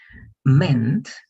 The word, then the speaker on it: meant: Meant. Good. Mean es la forma base. Si no hubiera la T, se pronuncia mean. Significar, querer decir. Pero en pasado, con la T se lee meant.